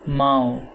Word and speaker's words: Mao: she corrected him saying that Mao rhymed with toe but he shook his